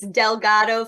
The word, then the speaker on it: Delgado: Is that how it's pronounced? Yes, it's Delgado Family Pest.